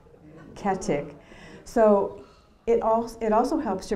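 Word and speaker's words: Goedecke: doing research for, and the name was Katic, C-A-T-T-I-C-K. And guess what the name really is? G-O-E-D-E-C-K-E, Getic, Ketic.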